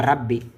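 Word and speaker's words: رَبِّ: Ici c'est une seule lettre B. OK. Ici on a deux lettres rabbi.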